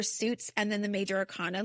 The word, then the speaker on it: arcana: Is it arcana?